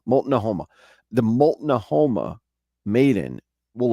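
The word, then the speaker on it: Multnomah: this M mola Moma it's hard for me to say this name because it's not e as it's written it's written a little different than it would be pronounced mol Noma mol Noma the mol Noma Maiden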